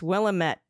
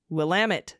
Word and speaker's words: Willamette: The way we remember how to say it correctly, it's Willamette, damn it. It's Willamette, damn it. Ah, I got it. Like, damn it, Janet. Willamette. Thank you for everything you do.